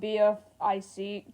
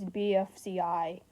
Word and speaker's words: BFCI: I just realized I said it wrong twice. It's BFCI.